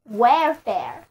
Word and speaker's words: welfare: 如果我们在表示意愿的这个词根 W-E-L 之后加上表示费用的 F-A-R-E，单词 welfare， W-E-L-F-A-R-E， welfare 就是我希望被支付的费用，那么 welfare 就是我们所获得的福利。welfare 字母组合 A-R-E 发作 air 的音，单词就读作 welfare。